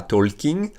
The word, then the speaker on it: talking: Donc souvenez-vous, la prononciation, c'est pas talking, c'est pas talking. On ne dit pas le L, il est muet, it's silent.